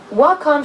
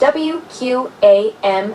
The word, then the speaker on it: WQAM: For example, Wacom should be pronounced W-Q-A-M and WINS should be W-I-N-Z. Yes.